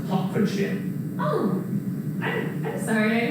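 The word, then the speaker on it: Hertfordshire: county just north of london and it's actually pronounced hopkinship oh i'm i'm sorry i always get that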